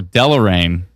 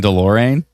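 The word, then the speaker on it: Deloraine: Oh, Delrain. I keep saying Delorean. My bad.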